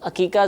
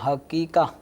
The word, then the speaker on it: عقیقہ: سب سے پہلے تو ان کا تلفظ درست ہونا چاہیے. یہ حقیقہ، جی یہ بھی لوگ اصل لفظ حقیقہ نہیں ہے، یہ عین پھر قوف پھر یا پھر قوف دو نقطے والا اور اس کے بعد